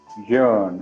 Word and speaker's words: Yaron: It's your Yaron. yearn. Okay. It's like yearning.